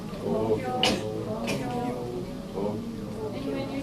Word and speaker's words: Tokyo: It's spelled T-O-K-Y-O in English, but actually first O and the last are long, so I added O. Tokyo. So both sounds are twice as long. Tokyo, no pitch fall.